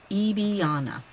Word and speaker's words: Iana: today my user name eana that's how it's pronounced long e at the beginning eana and it's uh there's